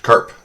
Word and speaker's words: CARP: I'd like to introduce my crustation agent rendevous protocol abbreviated as CP and pronounced Karp.